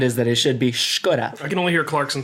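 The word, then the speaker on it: Škoda: Robert says the letter S is read sh as in sheep or Skoda. I thought Skoda was just pronounced Skoda.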